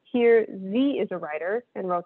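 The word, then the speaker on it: ze: these next ones that z is usually pronounced with a long e and uh here and those forms appear are typically pronounced like the english word here h-e-r-e so z here z is a writer and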